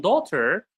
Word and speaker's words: daughter: So you can notice that the gh in daughter is silent. We don't pronounce it or in night it's not pronounced gh like number a b and b.